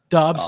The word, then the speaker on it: Dobbs: out young quarterbacks I mean was it Joshua Dodds dudes dots how do you say his last name Dobbs you know he got a lot on him